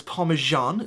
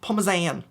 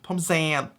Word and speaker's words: Parmesan: In America, for some reason, we pronounce this Parmesan. Where did the J come from? I've learned, okay, to pronounce this correctly, and it's just Parmesan. Gotta make sure it ends on the zan. Parmesan.